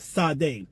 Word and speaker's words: Sade: bar this devil's name, pronounced Sade, spelled S-A-D-E.